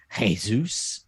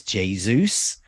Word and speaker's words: Jesus: that not harland and not jesus it's jesus um so there's gonna